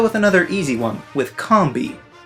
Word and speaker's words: Combee: This is a bee shaped like a honeycomb. You know, like the cereal? So, if it's a honeycomb and a bee, wouldn't it make sense that it be called Combee?